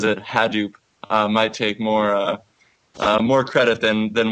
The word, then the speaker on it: Hadoop: It depends on who you talk to. Hadoop is a very common pronunciation. Hadoop is what the project founder calls it, and that's what his son says.